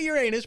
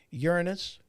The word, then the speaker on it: Uranus: Pulling it out of Uranus, because we all know what they're talking about. Although I did pronounce that wrong. I believe the actual planet is pronounced Uranus.